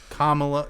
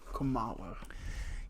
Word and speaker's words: Kamala: then I like the girl that plays uh Kamala nope Kamala yes this movie is at least 50% responsible for why I cannot pronounce the current presidential candidates name correctly the